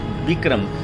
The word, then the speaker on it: Bikram: Now we are entering the Bikram Singh Interpretation Center. Actually it's a museum, and if you see the spelling, it's written B-E-E-K-R-U-M. Actually it should be Bikram and Bikram.